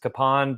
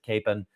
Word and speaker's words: Kapaun: of Father EML Capen I thought it was pronounced Kon but I've heard listening to stories from uh